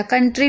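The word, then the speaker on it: country: कंट्री में भी आप देख रहे हैं कि ओ यू को हम आ पढ़ रहे हैं, तो ये याद रखिएगा।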